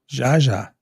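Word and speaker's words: Zsa Zsa: Dylan, did you find out how to pronounce Zaza yet? Ask Sean, he'll know who Zaza Gaber was. Jaja.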